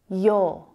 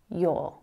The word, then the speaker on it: you're: You're. Remember, the pronunciation is exactly the same as this word here. You're. And in my accent, you don't really hear that sound at the end. It's just the vowel, or.